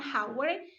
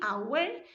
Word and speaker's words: hour: Ini dibacanya an hour ya. Bukan hour, tapi hour.